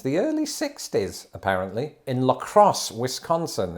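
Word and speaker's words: La Crosse: early 60s apparently in Lacrosse Wisconsin is it pronounced lacrosse like the sport probably lros and this makes particular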